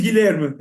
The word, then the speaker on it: Guilherme: So Yeah, but my real name is Guilherme. Actually, my real name is Guilherme. Yeah, They call me. Like William, and they call Will or Bill, something in English. So my real name is Guilherme.